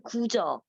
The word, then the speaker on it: 구저: 예, 그러니까 한국어를 읽으면 오히려 편해요. 앞에 거는 실제, 뒤는 구저 이렇게 확실히 다른데 그 중국어를 읽으면 시지, 취지 이렇게 돼요. 아, 그 뭐라고 읽어야 된다고요? 한국어로 읽으면? 구저. 한국어로는 구저. 구저?